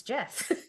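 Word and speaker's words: Geoff: know I just I just learned how to pronounce g off it's Jeff Jeff you mean when it spelled g e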